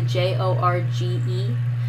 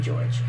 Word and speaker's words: Jorge: Spanish class who named his name was George but he spelled it that one way with the Jo rge and of course the Spanish teacher I had pronounced it probably the first time right in his entire life called him Jorge and he thought that was so weird cuz he was used to everyone calling him George but then everyone outside